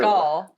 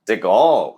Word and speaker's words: DeGuelle: How do you pronounce it? DeGuelle. DeGuelle.